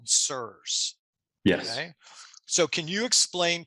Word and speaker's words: CIRS: to thyroid physiology absolutely sirs or c-i-r-s is how that's spelled stands for chronic inflammatory